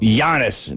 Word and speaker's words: Giannis: good with pronunciation uh it's actually jannis as well Giannis just like Yanni yeah Yanni broom Yanni